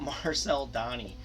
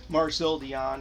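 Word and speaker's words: Marcel Dionne: youtube channel real quick about mispronouncing names about marcel donny marcel dion you know um marcel donny i'll never live that down and i was telling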